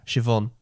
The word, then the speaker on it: Siobhan: Siobhan.